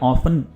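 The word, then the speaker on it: often: Basically ऑफ्टन का मतलब, या ऑफन, ये दोनों तरह से प्रोनाउंस किया जाता है।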